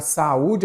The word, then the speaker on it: saúde: A palavra saúde, olha a saúde aí, ó, é acentuada pelo seguinte motivo. Vamos lá? Saúde. Ok, a sílaba forte é a penúltima.